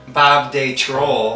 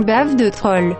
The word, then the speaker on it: Bave de Troll: You're gonna have to help me with the pronunciation, because it looks like Bob de Troll. Well, it's another, Bave de troll.